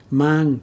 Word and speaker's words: mang: long and short vowels these two words mang and mang are similar but to a vietnamese speaker they are very different mang to bring to bring something is pronounced with an open and long ah sound but bamboo shoot has a much shorter ah sound think of it as